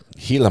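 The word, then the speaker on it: Gila: it to rounds two it's pronounced with an H heila monster then why do they put a g on there PJ I'm more of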